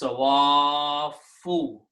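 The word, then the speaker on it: صوافّ: a rule of tajweed, this alif should be pronounced with a long mad. So it is sawafu, because we still have the fa with the dhamma.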